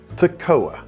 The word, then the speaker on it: Toccoa: And then there's the Toccoa River, Toccoa, and yes, that's how locals say it, 3 syllables, not the way most outsiders try it.